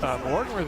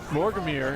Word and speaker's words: Morgamir: But there is the Morgul Blade by Mortimer there. Morgamir, excuse me, I've been saying it wrong this whole time.